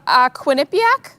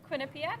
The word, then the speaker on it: Quinnipiac: Quinnipiac? Quinnipiac University? Quinnipiac?